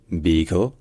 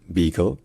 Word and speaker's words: beagle: Donc c'est beagle. Et donc en français, en important ce mot et donc cette race de chien, on a à utiliser plusieurs prononciations différentes. Certains disent beagle, juste beagle, voilà, en une seule syllabe, GL, beagle, mais bon, en français